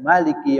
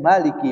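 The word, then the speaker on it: مَلِك: Ya, ketika almalik kita bacanya jangan panjang. Ya Malik itu salah. Tapi yang benar ya Malik. Ya Malik ya. Mimnya enggak pan enggak panjang.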